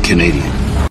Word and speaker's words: Canadian: Canadien, mais la prononciation n'est pas évidente. Né, vous voyez le ce A disparaît. K. Mais ça, ça se prononce né. Et ça, c'est dien. I'm Canadian.